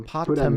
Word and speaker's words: Potam: never call myself, so I don't know how to pronounce it. So Potam is right. Hippopotamus. Oh, Potam. Potam.